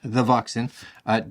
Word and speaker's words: THEVOXN: I will leave links to where you can take a look at THEVOXN, because you have to say it like that, THEVOXN, down below in the description.